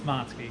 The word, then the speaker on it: Matsuki: it wrong or right is it matsuki or matsky diesel it's motski it is matsuki so there you go